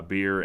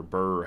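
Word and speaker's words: Birr: we bring in uh beer and or Burr Haver his name is spelled b-i-r-r and he's got a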